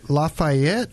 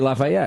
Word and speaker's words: Lafayette: You missed a whole syllable. Lafayette.